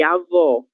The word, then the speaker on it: avó: Um exemplo disso são as palavras avô e avó, certo? No avô, a gente tem os lábios quase fechando, um som fechado, ele tem